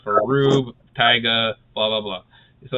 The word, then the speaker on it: R/B: Oh God, I've been calling it RB this entire time. I mean, you're not wrong, but it's pronounced Rube.